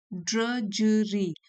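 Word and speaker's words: drudgery: ड्रजरी। यह जो डी है ये दूसरा वाला सेकंड डी वो साइलेंट है।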